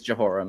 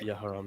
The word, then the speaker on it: Jehoram: I think English is Jehoram, yeah. Well, J, it's the A. I know that the Y is that Yeah. in Hebrew, so. Yeah, Okay, so it would be Okay. Yehoram, yeah.